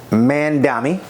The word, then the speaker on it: Mamdani: Did I pronounce his name right? Yes, Mamdani.